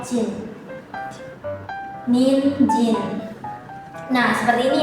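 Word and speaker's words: 人: Kalau kunyomi apabila kanji orang itu berdiri sendiri, maka dia tuh dibacanya hito. Hito. Kalau semisal dia tuh bersama dengan kanji lain, dibacanya tuh min atau jin.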